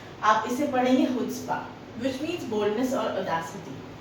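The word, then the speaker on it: chutzpah: is just they the seventh word is the spelling is सी एच यू टी जेड पी एच ठीक है आप इसे पढ़ेंगे हुड्स्पा which means boldness और Audacity िटी है ना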